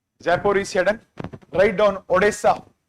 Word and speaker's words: Odessa: Nippro D N I T R O Zapur is write down Odessa not Odisa Odessa O D E S SA very very important.